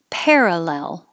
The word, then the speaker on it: parallel: So, starting with row three, parallel, parallel. And I put over here in D that this parallel is the same sound as pear that you eat. I spelled it P-A-I-R to think of air, pear.